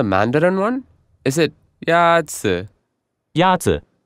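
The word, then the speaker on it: 鸭子: Yazi is pronounced with a first tone. In Mandarin, there are four tones, which are essential to distinguish the meaning of words. The first tone is a high-level tone.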